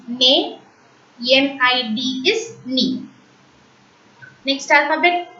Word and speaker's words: nez: But when Z is accompanied with E, EZ, we have already learnt ER, EZ and ET is pronounced as A. NEZ is nay, NID is knee.